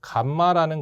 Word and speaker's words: 감마: 이 전파 정수는 우리가 이제 감마라는 거 있지 않습니까? 이거 이제 읽을 때 이제 감마라고 읽어요.